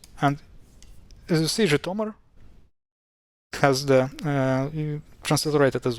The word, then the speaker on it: Zhytomyr: So J, I, Tom, I, R, Zhytomyr. Zhytomyr, actually, yeah, the emphasis is here, just in case.